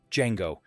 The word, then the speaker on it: Django: Fox answers, "Django. Can you spell it? D J A N G O. The D is silent." And Franco Nero, the original Django, delivers the line that brought audiences to their feet.